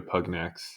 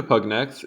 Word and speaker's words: pugnax: Pugnax is what it says in Italian and Latin.